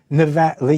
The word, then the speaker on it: Nevada: Reid or anybody else will tell you is pronounced with a a flat a so Nevada you say Nevada I say Nevada let's call